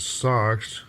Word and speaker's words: SoX: And it's called, the project is named Sound Exchange with the emphasis on the X part. So it's commonly referred to as SoX, spelled with a capital S and a lowercase o and a capital X.